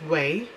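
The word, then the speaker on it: Ouai: Here we've got a product from Way, so O-U-A-I, and I think they pronounce this as Way.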